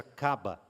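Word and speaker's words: קבע: eh Hebraica né Eh que se pronuncia caba e ela só aparece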